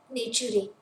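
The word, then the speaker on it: Naturae: इसे कैसे प्रोनाउंस करेंगे हम? नेचुरे। This is लैटिनाइजेशन ऑफ नेचर।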